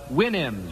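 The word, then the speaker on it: Houyhnhnms: mythical kingdom was the Winnhams. Remember the Williams to sound to pronounce supposed to pronounce it like you do a horse's winnie I think.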